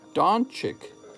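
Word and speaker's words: Dončić: It's pronounced Doncic.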